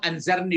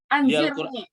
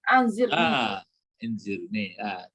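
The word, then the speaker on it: أنظرني: Ya, memang anzarni baca. Anzirni. Anzirni.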